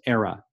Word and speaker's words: Aira: IRA app here era it's pronounced era so what you can